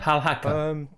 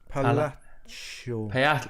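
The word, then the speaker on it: Palhaço: Is it Palaco? How do you say it? Palaco. Well, Palaccio. Palaccio. Like Pagliacci, which is I think it means clown.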